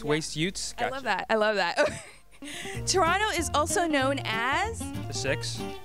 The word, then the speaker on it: Toronto: never you never emphasize second team so it's Toronto Toronto yeah because it's like you know you don't